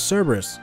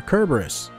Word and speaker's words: Cerberus: ew that was close that was Cerberus or kerberus as it's actually pronounced I believe the guardian